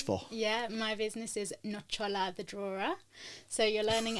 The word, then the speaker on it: Nocciola: So Nocciola, so like the same sound as ciao is in the middle there.